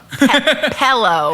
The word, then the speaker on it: pillow: It's like you're pronouncing it Pellow. Pillow. I hear like an E. Pillow. Yeah, Pillow. pillow. P-E-L-O. Is that Pillow. Like a pill.